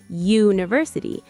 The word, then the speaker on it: university: Right, but university doesn't start with a vowel sound. It starts with a y sound, university.